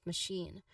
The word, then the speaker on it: machine: So ticket ticket machine for machine the stress is on the second syllable shin okay which um you know which has a clear long e sound shin. Now the first syllable ma should be a soft unstressed sound.